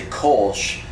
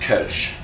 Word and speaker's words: Kölsch: talk about what you might know as a kch but is pronounced kach and this is a very very unique style